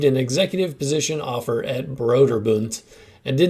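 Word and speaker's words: Brøderbund: I don't know why I pronounce it Broderbund, since apparently it's an American company, but that's definitely German words.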